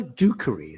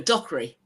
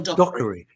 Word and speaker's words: Dockery: And I Well, how do you pronounce her name? Michelle Dookery. Is it Have I got it right? No, no, no. Dockery. Michelle. Dockery.